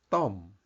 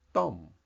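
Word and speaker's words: ต้ม: this word it's pronounced Tom with a kind of exciting tone Tom it sounds a bit like stomp th and it means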